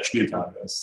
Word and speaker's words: Spieltag: Did I pronounce that right? Spieltage. Yeah, Spieltage.